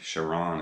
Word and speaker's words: Charon: So when I heard that, I thought, okay, I think Charon is how you pronounce this, because I've heard, you know, Charon and Charon and a lot of different ways of pronouncing it, but I believe it's actually Sails of Charon, and it's basically flirting